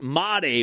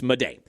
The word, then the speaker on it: Made: him two years ago, I thought this kid's name is Jesus made. Holy hell, we are this guy's gonna be gold. And then we found out it was Jesus Mate, we thought. And then it turned out, we found out this spring we were putting the wrong empas on the incorrect salabul. And it's Jesus Mday.